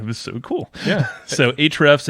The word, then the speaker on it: Ahrefs: So Ahrefs, it's spelled AHREFS.